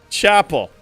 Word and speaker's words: Chapel: Chapel. Like the church.